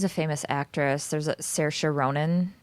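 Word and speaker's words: Saoirse: this whole time why was I saying Shiva it's spelled Siobhan but it's stupid it's like like sersha spell Sasha what the name Sasha I always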